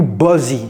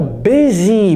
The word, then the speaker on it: busy: quelqu'un dit are you Buzzy are you Buzy today j'ai reposé la question que voulez-vous dire oh busy busy are you busy today vous voyez c'est pas Buzzy si vous vous êtes